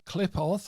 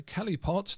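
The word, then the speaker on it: Qliphoth: And the shell in this card alludes to the Klipoth or the Kelipot, depending on how one pronounces it, which are seen as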